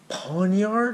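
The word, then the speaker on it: Pawniard: not bad next up pawn yard is how you say it I got him in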